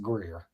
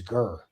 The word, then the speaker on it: Greer: my leg, they say they don't pronounce it Greer, that it was Gur. It may be, but I've always pronounced it Greer because I don't live there. I'm not saying that I'm right. I'm saying this out of pure ignorance because I remember I thought it was one of those. I was just saying, so it is pronounced Gur.